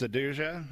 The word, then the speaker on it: SADUJA: How do you pronounce that, Jason? Yep, so that's SADUJA. It actually SADUJA.